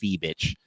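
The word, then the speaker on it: Fiebich: I'm pretty sure it's pronounced Feebitch.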